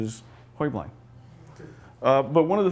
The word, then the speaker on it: Heublein: you're if you're talking about the company it's hubline talking about the family's timeline actually the correct pronunciation is hoibling uh but one of the things that they